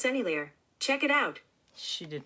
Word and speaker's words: Sennelier: Sennelier, I think is how you say it. Sennelier. It's French or Italian.